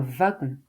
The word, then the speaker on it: wagon: Attention au mot un wagon qui se prononce v un wagon.